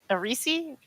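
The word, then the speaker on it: Aerisi: the risi kalinoff indeed arisi like a Reese's cup like the little candies okay the name is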